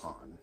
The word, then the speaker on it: Ann: go and chat with On. Or Anne or On, however you want to say it. in the game, it's pronounced on.